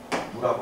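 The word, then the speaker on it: ν: 이건 읽을 때 누라고 읽어요. 누.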